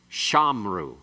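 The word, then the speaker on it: שָׁמְרוּ: Normally, it's they kept shamru. Shamru, actually. Shamru. And it's secondary accent, metheg, moving to the other accent.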